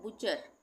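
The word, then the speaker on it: butcher: सोफेन सोफेन नहीं पढ़ेंगे ये है बुचर बी यू टी सी एच इ आर यहां पे क्या एक साथ आ रहा है टी सी एच आ रहा है एक साथ तो टी सी एच एक साथ आएगा तब भी टी का उच्चारण नहीं होगा इसको हम पढ़ेंगे बुचर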